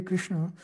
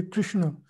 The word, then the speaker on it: Krishna: Krishna, it should be Krishna, the actual word, but because it's very difficult to pronounce. So like... The word is Krishna. It's not, there's no emphasis on the last syllable, because if you say